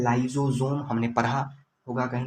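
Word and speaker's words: lysosome: दो चीज़ होता है, एक होता है लाइजोजोम, हमने पढ़ा होगा कहीं ना कहीं, नाम सुना होगा।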